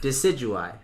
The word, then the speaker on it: Decidueye: like oh yeah that's how you say it decidueye he's just so cool man and that's who